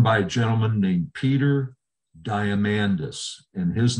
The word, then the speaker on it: Diamandis: down it's run by a gentleman named peter diamandis and his name is spelled diamond and then a s on the end diamandis is how he pronounces it this guy is one of the